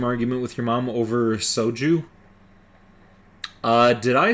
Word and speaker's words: soju: She kept pronouncing it sohu, and you said it's pronounced soju.